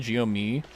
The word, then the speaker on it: GMI: Anyway, I don't care if someone says GMI or GME, but I find Gomi is the right way to say it.